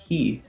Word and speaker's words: 火: Some fire type moves do use hi, but they use a different reading so it sounds like ka instead of hi.